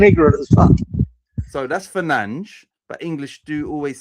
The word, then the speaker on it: Fernandes: Lawrence, yes, it is Fernandez. Said like Fernandes.